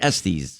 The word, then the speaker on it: Estes: You pronounce it Estes.